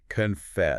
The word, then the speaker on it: confess: You can almost feel your voice going up on that second part. Exactly. The energy is at the end. Confess.